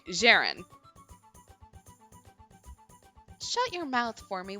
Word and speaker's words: Ceren: what was your name spelled c e r e n that's J like Jester and ran like Ransom I did not pronounce that right Jaren shut your mouth for